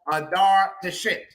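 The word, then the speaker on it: Dhar Tichitt: One of them is called Dar Teshit. And no, that's actually how it's pronounced.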